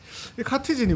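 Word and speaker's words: Catizen: 하고 있어요 잠시만요 이건데 읽을 때 CA 읽을 때 카티즌이라고 얘기합니다 카티즌이라고 읽는데이 카티즌 뭐냐 항상 얘기했던 것처럼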